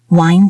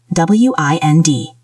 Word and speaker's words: wind: Wind down. W-I-N-D, down. Remember the pronunciation, not wind like the air, wind with a long I, like find or kind.